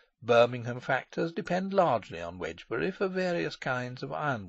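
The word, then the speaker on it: Wednesbury: to the coal trade in heavy Freights wbury pronounced wedgbury and spelled wedner bery in Dooms day book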